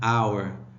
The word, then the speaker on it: hour: So an with the sound of A-E-I-O-U, an umbrella, an hour. So here the H is mute, right?